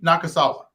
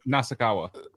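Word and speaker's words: Nasukawa: Tension Nakasawa. At number two, Tank Gervante Davis. Say, wait, wait, say his name again. Tension Nakasawa. Or is it Naku? Nasakawa.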